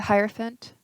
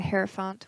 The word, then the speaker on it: Hierophant: being supportive do you have the Hierophant or the hair font whichever way you want to pronounce in it it doesn't matter he's the same guy